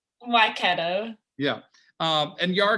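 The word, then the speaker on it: Waikato: with north harbor and i'm going to say it wrong well i'm trying to say wakato um yeah you guys said it right no no i didn't say that you got close i was close all right say it for me why keto yeah um and you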